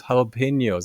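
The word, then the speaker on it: jalapeños: How how how do you why would you pronounce a J sound like an H sound?" Of course, no one tells you that that's a Spanish, right? H A L A, right? That made a lot more sense.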